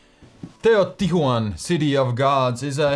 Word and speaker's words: Teotihuacan: Teotihuacan, City of Gods, is a heavy Euro game with an interesting mechanism.